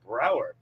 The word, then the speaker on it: Brower: How about Brower, not Bauer, Brower.